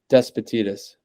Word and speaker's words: Despotidis: in how do you say your last name despatitis despatitis okay gotcha okay um yeah no worries